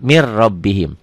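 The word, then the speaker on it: مِنْ رَبِّهِمْ: langsung ke sini Mir mirrobbihim tulisannya Min rabbihim dibacanya mirrobim ini idgham bilagunnah idgham tanpa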